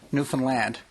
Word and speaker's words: Newfoundland: A good trick is to say Newfoundland, understand, understand, Newfoundland. That way you'll never get it wrong.